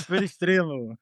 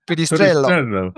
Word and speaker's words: Perestrelo: It's Perestrelo. Perestrelo.